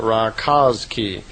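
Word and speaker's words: Rákóczi: I suppose you would pronounce that raki and his name wasn't St.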